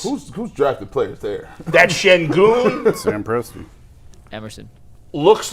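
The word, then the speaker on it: Şengün: Sengun, correct.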